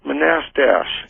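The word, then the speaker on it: Manastash: Yeah, it's pronounced Manastach. Figures. Manastach.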